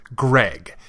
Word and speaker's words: Greg: with North American accents it's not like they're saying cthulu it's Greg say it right you can say basically